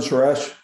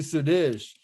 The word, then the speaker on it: Sadish: yeah how you doing suresh how do you is that do i say it right that was actually sadish hey my name's justin